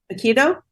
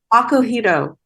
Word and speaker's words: Akihito: Is it Hito. Akito? Akohito. Akihito. Thank you.